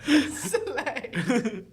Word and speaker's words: Soleil: Soleil. That's how you're supposed to pronounce it.